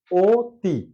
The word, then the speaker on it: অতি: উচ্চারণ আবার যখন এখন অতি লেখা আছে অতি কিন্তু আমরা সাধারণত উচ্চারণ করে থাকি ও তি অর্থাৎ দেখালে ও তি